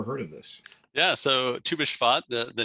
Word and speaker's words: Tu B'Shvat: Help me with the pronunciation. Tu B'Shvat? Tu B'Shvat, yeah, good job.